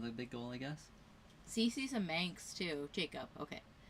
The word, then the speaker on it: Cece: Her name's Cece, so it's spelt with just like 2 C's, like cubic centimeters, like a bike. So Cece.